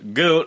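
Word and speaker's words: Gutt: Obviously with their new singer, Jeff Goot. I'll get that right this time since I've been pronouncing it wrong and y'all been giving me hell about it.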